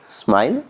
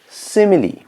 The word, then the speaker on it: simile: let's see simile okay don't read it as smile or smile whatever you may be pronouncing pronounce it like simile seemingly see mainly simile okay simile a simile